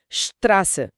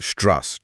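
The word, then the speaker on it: Straße: अक्षर है बीटा उसे एस सेट कहते हैं वो बस डबल एस या एक तेज स का ध्वनि है। जैसे सड़क के लिए शब्द है श्रास मतलब श्रास। स्ट्रास।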